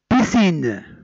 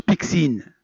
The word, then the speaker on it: piscine: Piscine. Piscine هو مسبح، ما تنقراوهاش بيكسين، بيسين وتنكتبوها avec SC.